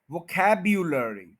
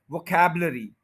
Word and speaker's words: vocabulary: 5 syllables हैं और second syllable के ऊपर स्ट्रेस है। बस आप ये समझें कि आप अगर ये यू जो है इसको बोलना शुरू कर देंगे तो ये प्रोनाउंसिएशन ठीक हो जाएगा। वोकैब्यू, वोकैब्युलरी, वोकैब्युलरी। इसमें इस यू का प्रॉब्लम है इन सारे वर्ड्स में। हम कैसे बोलते हैं वो फिर सुन लें, वोकैबलरी, वोकैबलरी, यानी यू नहीं बोलते, इस यू को